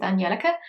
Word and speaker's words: Angelica: but i remember once she did answer a question of how she pronounces her name and she said it was angelica so i was again okay that makes sense because it's swedish like that's like the swedish pronunciation so we'll go with